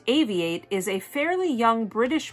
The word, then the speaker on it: AVI-8: it founded in 2012 avi 8 pronounced aviate is a fairly young